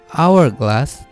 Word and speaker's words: hourglass: Kata the hourglass dibaca pakai the karena cara baca hourglass diawali dengan suara vokal hour di mana huruf H-nya hilang.